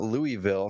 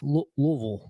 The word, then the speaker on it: Louisville: was told by balos it's not Louisville so anyone out there who says Louisville it's Louisville um the tip is uh you got to say it like you got food in your mouth louville that's there we go you said it even better yeah so it's not even Vil it's V louville Louisville okay I like it so